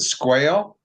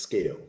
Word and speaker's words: Sqale: at uh is it squale it's pronounced scale for those people who know it's it's pronounced scale with a Q okay so why don't